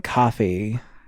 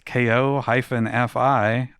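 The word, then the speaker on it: Ko-fi: not Patreon on coffee that's ko fi I call it kofi because it's close to the Dutch spelling and that's the Dutch pronunciation of K.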